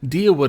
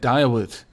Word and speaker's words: Deerwood: Deerwood, I will have to remember that. I was pronouncing it Direwood.